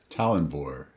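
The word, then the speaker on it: Tallanvor: head of them he is t-a-l-l-a-n-v-o can you pronounce this name for me todd talonvor very nice that's how i refer to him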